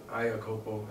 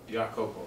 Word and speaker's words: Iakopo: but you was telling me that there's a greater way of pronouncing it. Yeah, so it's cool. Like Rihanna. Like either way, it's cool. Like it's a Samoan name, and it's spelled iAKOPO. So in English, people see it. They say iAKOPO, and it actually it's cool too because in Jamaica, they'll say